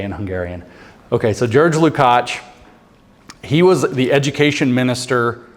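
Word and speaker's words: Lukács: his name is jurge which is the Hungarian pronunciation of George it's George lcat and L u k a CS lukach uh Hungarian I'm not even going to spell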